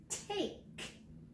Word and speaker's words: take: we take turns okay this is a word that has a silent e on the end when i say the word take that e doesn't get to say anything but it makes the a say its name so we take turns